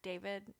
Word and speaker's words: Da5id: Also, with your name thing, like, so the character David in the book, his name is spelled DA5ID. Nice. And when I saw it, I was like, we just gonna call him David.